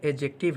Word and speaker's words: adjective: एक बात का ध्यान रखें, इसे बोलते वक्त सावधानी बरतने की ज़रूरत है, क्योंकि इसमें का जो डी वर्ड है वह साइलेंट मोड में रहता है। जब भी इसका हम प्रोनाउंसिएशन करते हैं, तो डी को साइलेंट में रखते हैं और उच्चारण करते हैं एडजेक्टिव, ना कि एडजेक्टिव।